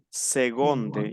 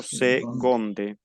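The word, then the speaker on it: seconde: bien como una g como una g segonde yo pronuncio segonde significa segundo en segundo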